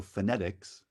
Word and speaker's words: phonetics: the stressed syllable so phonetics is stressed on the second syllable literature is stressed on